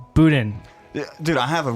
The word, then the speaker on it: Boudin: See, in American, you pronounce all the letters like it's not Boudin, it's Boudin.